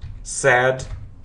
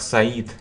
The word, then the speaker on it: said: Формы say, said, said. Почему некоторые студенты произносили как Саид, Саид. Say, said, said.